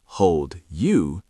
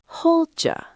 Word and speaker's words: hold you: Native speakers don't say "hold you". They link the D and the Y to make a "jew" sound. Hold ya. Hold ya.